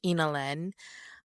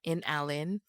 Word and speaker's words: Inalen: It's pronounced Inalen. Um Inalen is my name backwards. Inalen. It's not in Allen, but if you ever get confused, it's Inalen.